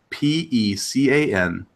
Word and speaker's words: pecan: a li NE and those two words for those that don't know how to say them properly is pecan praline not pecan pecan any of that other garbage or praline pecan praline there you go mooch here's here's what